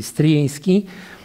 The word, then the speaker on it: Stryjeński: Je vais prononcer le prénom plutôt en polonais. Stryjeński, que j'ai mis ici quelques seulement personnes de cette dynastie.